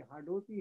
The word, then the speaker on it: हाड़ौती: उच्चारण गलत है, ये हाड़ौती है और हाडाओं का यहाँ पर शासन रहा इसलिए इसको हाड़ौती कहते हैं।